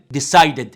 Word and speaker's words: decided: decided. ينفع اقول decide يعني اشيل الاي دي واحط دي؟ لا، لازم اشيل الدي واحط اي دي، تبقى decided.